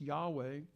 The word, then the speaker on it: Yahweh: In the original meaning of that, they actually had a name for God, which we often, as most people think, was pronounced Yahweh.